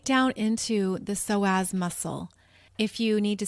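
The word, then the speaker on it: psoas: seeing this energy go right down into the soaz muscle if you need to see a visual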